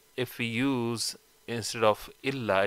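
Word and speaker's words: إلا: But if we use instead of illa, if you say ila, la ilaha illallah, then it would not give the meaning of this but or except in Arabic, because you're not saying illa, you are saying ila, which is not what you want to say.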